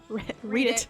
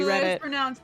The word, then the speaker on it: Reddit: Well, he's a prominent user on Read it. I know, I was just laughing because it's supposed to be Reddit. Supposed to be Reddit. It is pronounced as Reddit, yeah.